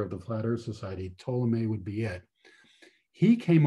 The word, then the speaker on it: Ptolemy: In fact, there's one person whose name is Ptolemy. And this is a name that I hope you learned in your junior high school science class. It's spelled with a P, but the P is silent.